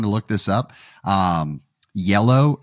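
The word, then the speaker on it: iello: look this up um yellow is the Production Studio but it's not spelled like the color i e l l o uh because I know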